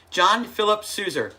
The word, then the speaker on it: John Philip Sousa: John Philip Sousa.